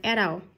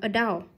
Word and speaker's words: adult: Adult, từ này có hai cách đọc, người Anh đọc là adult, người Mỹ đọc là adult. Adult, adult thì nhấn mâm a, adult, còn adult nhấn mâm đau, adult, danh từ người lớn.